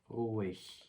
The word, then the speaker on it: ruhig: 방금 앞에서 말씀드렸듯이 하 앞에 모음이 붙으면은 이 소리는 이제 묵음이 되고 모음의 소리가 길게 나게 됐죠. 그러면은 오 이렇게 되는 거죠.